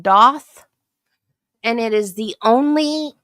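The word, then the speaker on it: daith: Um, it's spelled Dave, but it's pronounced Doth.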